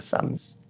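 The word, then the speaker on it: Psalms: 쌈스 P가 무음이에요. 그래서 쌈s라고 읽습니다.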